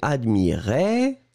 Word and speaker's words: admirait: attention encore une fois on va prononcer les deux je regarde oui le premier admirait qui monte et le deuxième admirez qui descend d'accord admirait admirez vous